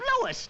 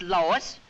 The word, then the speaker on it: Louis: the plant Lois Lois me name is leis not Lois J W everybody in toates me name wrong it's Lis l o u i s Lois uh Louise Lucy